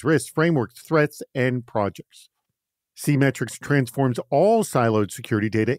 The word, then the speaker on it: SeeMetrics: SeeMetrics, and you should know that it's spelled the way it sounds. It's the word see, S-E-E, and then metrics.